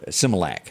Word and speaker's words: Similac: to simulink sema uh i'm gonna say it wrong cause i'm just gonna simulac there it is it's been many years